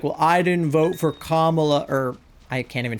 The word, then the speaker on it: Kamala: And he's like no because like her name is Kamla. It's not like tomato tomato. Like it's it's not like saying her name with a British accent. It we're talking like that's the way her name is pronounced.